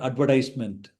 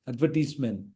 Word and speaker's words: advertisement: Third one, advertisement, not advertisement, advertisement.